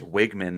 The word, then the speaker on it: Weigman: So we've been told it's Wigman as if there was no Weigman.